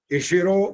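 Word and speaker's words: इषिरो: इशिरो वो भी आपने बिल्कुल ठीक बोला।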